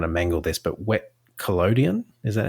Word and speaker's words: collodion: I'm going to mangle this, but wet collodion, is that how you say it?